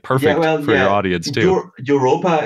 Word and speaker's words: Europa: Europa is the German pronunciation for Europe.